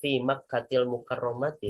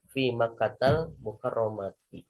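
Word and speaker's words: في مكة المكرمة: Kita tidak mengatakan fi Makkatil mukarromati tapi fi Makkatal mukarromati ya.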